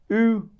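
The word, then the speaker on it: Ü: This is called U. U, like U, like U.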